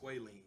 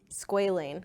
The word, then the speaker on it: squalane: It's pronounced squalene. Squalane.